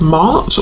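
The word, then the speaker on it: Maat: And I'm noticing the feather, which is making me think of the Egyptian goddess Mart, or Mat, depending on how you pronounce it, who is about truth.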